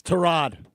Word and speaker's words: Tyrod: You're my pronunciation guy. It's Tyrod.